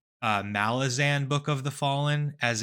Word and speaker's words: Malazan: to pronounce it um I realized that it's Malazan as in like the people from malaz and Malazan or sorry